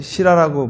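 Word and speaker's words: sīla: 왜 그러냐 하면은 계라고 하는 거 이거는 인도말로 시라라고 발음합니다.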